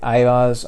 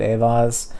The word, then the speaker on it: Eihwaz: It's frequently referred to as the EI sound, which is either the long I of like the word ice or the long A of the word gate. It just depends, because if you look at it phonetically, a, gate, Aett. So, or it could be ice.